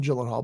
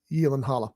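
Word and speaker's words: Gyllenhaal: been remade starring Jake Yen Halla gyllenhal we all everybody calls him gyllenhal but according to something I watched on TV with him it's actually pronounced Yen Halla yes anyway um Jake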